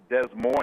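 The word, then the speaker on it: Des Moines: border in New Mexico there's a town that's pronounced Des Mo instead of De Mo like in Iowa but they're spelled the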